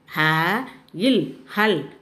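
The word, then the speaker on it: हल: La, the last letter is la. You should say as il. Ha il hal.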